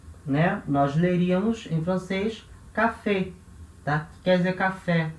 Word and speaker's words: café: Então, o acento agudo na vogal E vai indicar o som aberto, E. Então, café. Então, se eu colocar, por exemplo, o artigo na frente, né, o café, le café, tá? Esse le, a vogal E vai ter o som fechado dela, porque não tem acento nenhum, E, tá? E aqui, a vogal E vai ter o som aberto, E, né? Porque tem acento agudo.